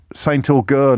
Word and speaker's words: Saint Agur: And Saint Augur, not Saint Augustine. Sorry, lads. Saint Augur, it's called. Saint AGUR.